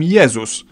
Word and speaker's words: Jezus: In Polish we call him Jezus, but if we were to pronounce his name the English way, we'd write it down as Jesus.